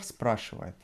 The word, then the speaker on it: спрашивает: And on спрашивает, we emphasize on a. You cannot know this, however, just try to remember how I pronounce this now. Well, профессор спрашивает.